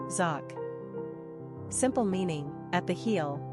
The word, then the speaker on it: Jacques: number of syllables one ranking popularity not applicable pronunciation zoc simple meaning at the heel the supplanter characteristics